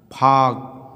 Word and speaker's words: फाक: फाक, फिर के दिया, इसका उच्चारण, इसके पहले यल दिया, इसका उच्चारण क्या हो जाएगा, साइलेंट।